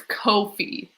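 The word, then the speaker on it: Ko-fi: door closed um oh it rhymes with no fee so it's kofi so coffee but anyways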